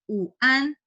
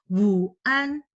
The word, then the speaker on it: 晚: Ya, meskipun ada w, bacanya seperti u. Uan, bukan wuan. Oke, jadi w ini hanya sebagai huruf pembantu ya, huruf konsonan pembantu. Tapi bacanya tidak perlu dibaca juga wu, tapi u.